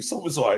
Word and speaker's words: Szoboszlai: I'm trying to get the pronunciations right. Okay, Szoboszlai. Szoboszlai. Thank you, Szoboszlai.